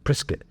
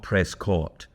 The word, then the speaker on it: Prescott: You say you pronounce it prescuit like biscuit apparently. So Prrisket, Arizona. Um not Prescott. Uh that's uh it's a very different type of talking.